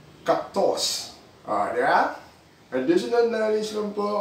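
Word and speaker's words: kaktos: And ang pronunciation nun, dahil nga Latin word siya, K-A-K-T-O-S, so hindi siya cactus, cactos.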